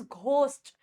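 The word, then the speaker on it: ghost: ये घ की साउंड देगा, जैसे इट इज घोस्ट, ठीक है।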